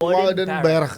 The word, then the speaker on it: Woudenberg: Wouden OU itu AU.